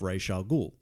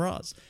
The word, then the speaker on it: Ra's al Ghul: of stuff, and himself calls himself Ra's al Ghul, which is how it should be pronounced. Everyone else calls him Raz.